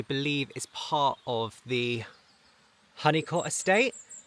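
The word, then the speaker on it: Holnicote: So, Cellworthy, I believe, is part of the Honeyot Estate. It's spelled like this, but I'm pretty sure that locals pronounce it as Honeycot, so correct me if I'm wrong.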